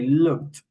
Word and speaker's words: looked: In English, some verbs, for instance, this one, we pronounce that ed like stop it, no? In other examples, for instance here, we say looked. Acá lo pronunciamos como si fuera una ID, y acá la pronunciamos como una T, ¿no?